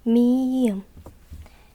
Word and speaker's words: 미음: thứ nhất, thứ hai, thứ ba tốt ㄹ phát âm là và tên là 리을 đúng rồi , tiếp theo là 미음 vẽ một đường xuống dưới trước như